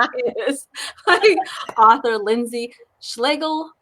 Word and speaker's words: Schlegel: I am joined this day, I'm trying to think what time of the day it is, by author Lindsay Schlegel, Rhymes with Bagel, talking about her new book.